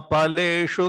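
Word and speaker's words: फलेषु: Fa, you pronounce this fa in Hindi. In Sanskrit, there is no fa. Fa. No, you have to pa, pa, pa. Ma phaleshu kadachana.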